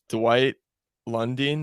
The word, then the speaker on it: Lundine: Dwight Lundine, is that how you say his name?